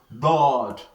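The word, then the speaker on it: ضاد: So the same thing applies to dod. So dod is spelled D-A-A-D. Dod. Dod. So we have sword, we also have dod. So these are heavy letters. When we pronounce them from what? From our throat.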